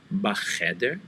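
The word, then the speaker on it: בַּחֶדֶר: Make sure you pronounce that first by pronouncing ba by itself, ba, and then go into the sound cheder for the letter chet.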